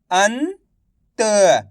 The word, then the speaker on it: अंत: अंत, अंत, अनत नहीं पढ़ना।